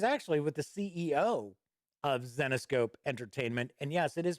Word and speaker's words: Zenescope: kickstarter it is actually with the ceo of xenoscope entertainment and yes it is pronounced xenoscope not xenoscope so let's kick back and give it a